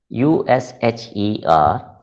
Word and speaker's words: usher: pronunciation of the word the first sound is not who it is you and the pronunciation it is pronounced as ah so it is pronounced as usher mobile phones ushered in